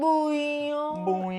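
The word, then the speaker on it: Bouillon: Uh, but what we use instead is this stuff called better than bouan, but it's French, so you have to say it properly. It's better than buet.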